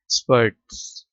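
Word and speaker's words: spurts: ठीक है, इसमें आर साइलेंट नहीं है। स्पर्ट्स, मैंने आर को पढ़ा है इसमें।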